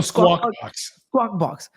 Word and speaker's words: Squawk Box: Oh, Squawk Box.